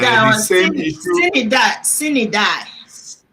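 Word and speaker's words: sine die: it sin and die the or same issue, sin it die? Sin it die. It's sin. Sine-Die, Sine-Die, It's Sine-Die is called pronounced Sine-Die, yes. it's pronounced sin and die.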